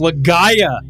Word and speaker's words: Legaia: It's Legaia. It's pronounced Legaia. I'm not even sure.